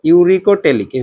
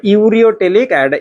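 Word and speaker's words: uricotelic: Yuri ইউরিকোটেলিক ঠিক আছে ইউরিকোটেলিক উচ্চারণ করবা ইউরিটেলিক ইউরিকোটেলিক আরেকটা হচ্ছেনটলিক ঠিক আছে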